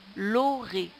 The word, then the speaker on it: l'orée: L'Oré. Alors, Oré s'écrit O-R-E-E. Le E ne se prononce pas. C'est un E muet.